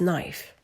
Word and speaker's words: knife: knife who do not who do not pronounce the K it's knife then we have murder